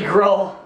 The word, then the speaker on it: Gruul: Only Gruul. It's only Gruul, because it rhymes with Zool.